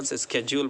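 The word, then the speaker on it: schedule: शेड्यूल मतलब उसका daily task, रोज़ाना का, इसको शेड्यूल बोलते हैं इंडिया में, और इसको अमेरिकन स्केड्यूल बोलते हैं, स्केड्यूल, तो दोनों प्रोनाउंसिएशन सही है।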